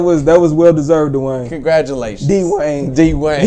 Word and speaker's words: Dwyane: D-Wayne. He spells his name the weirdest. Dwayne. I always pronounce it Dwayne.